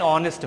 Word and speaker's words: honest: Next two examples, it is an honest man. So look here, here ace is silent.